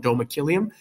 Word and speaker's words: domicilium: to read the story you can hear it in the uh the pronunciation right Magnum domakilium that makes more sense